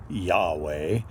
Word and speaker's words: Yahweh: So, Romanized Christians pronounced it Jehovah, and a little more educated ones realized the Jews didn't have a J sound, so they say Yahweh.